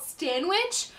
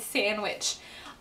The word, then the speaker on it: Stanwich: It's called Stanwich, but I kept hearing in my head Sandwich.